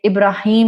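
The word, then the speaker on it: إبراهيم: एक और correct recitation है, साउंड क़िराअह जिसको बोला जाता है इब्राहिम की, वो है इब्राहाम। इब्राहाम का लफ्ज भी आपको ये कहे ओहो आपने तो नाम ही गलत रख दिया, नहीं, it's completely a sound क़िराअह, sound pronunciation जो कि अरबी जुबान में एक्सेप्टेड है, इब्राहाम।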